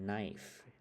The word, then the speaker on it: knife: เ น า ะ meat แ ม่ น knife โ อ เ ค knife แ ป ล